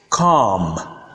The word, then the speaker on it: calm: For example, the words calm, calm, bomb, bomb, palm, palm, and psalm, psalm. Note that the L is silent, as you can see from the transcription.